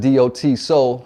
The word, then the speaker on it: Daht Soul: this his name is not soul yeah that's pronounced do t soul healed his spell daht soul so now we